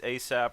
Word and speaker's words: Aesop: different asap rocky meets asap rock at rock the bells i noticed asap rock's name that's spelled a-e-s-o-p instead of ac yeah like ace like aesop's fables which is you know